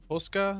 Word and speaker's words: posca: Posca?